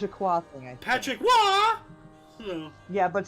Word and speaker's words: Patrick Roy: Patrick Wah! Oh, Yeah, but spelled R-O-Y. huh. I'll be darned. Everyone thinks Patrick Roy, but it's Patrick Wah.